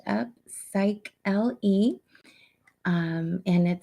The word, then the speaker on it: Upsychelly: always like to just remind everybody it is pronounced up psych l e um and it sounds like upcycling with upcycling